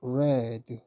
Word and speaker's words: read: 발음을 항시 조심해야 돼요 원형에서는 과거에서는 레드 과거분사에서도 레드 이런 뜻이 됩니다 그래서이 단어는